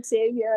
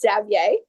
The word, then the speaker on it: Xavier: A lot of people say Xavier, and I have to tell them, no, it's Xavier. Yep. But we pronounce it the English way.